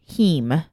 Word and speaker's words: heme: It's something called heme, and it's spelled HEME. So like if you've ever heard of the word like hemoglobin.